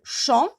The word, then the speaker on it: chant: Chant, il n'y a pas un ER à la fin, mais lorsque j'ajoute ER, j'entends le T. Chant, chanter. Alors, lorsque j'entends le T, je sais que chant contient un T à la fin, mais le T est muet.